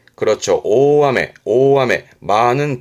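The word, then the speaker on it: 大目: 발음은 오메.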